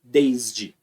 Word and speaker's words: desde: Agora, quando você pronuncia o S no desde, vibra. Desde. Tudo vibra.